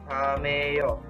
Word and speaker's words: camello: The double L sounds like ia. Ia. For example, camello.